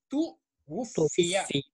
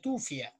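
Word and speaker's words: تُوُفِّيَ: तू वुफिया। हाँ, तू वुफिया। बच्चे इसको गलत पढ़ते हैं, तूफिया। क्या पढ़ते हैं? तूफिया। नहीं, ये तू वुफिया है।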